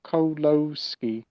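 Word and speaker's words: Kieślowski: hour long polish film directed by Christoph kolowski kioslowski I think is how you pronounce it yeah I don't mean to be that guy I just wanted it yes he's actually told me here pronounce Christoph coloski okay there you go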